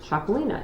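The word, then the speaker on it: Txakolina: If you're wondering how in the hell do you spell Chacolina, T-X-A-K-O-L-I-N-A, pronounced Chacolina.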